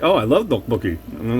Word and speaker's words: tteokbokki: He's like, oh, I love tteokbokki.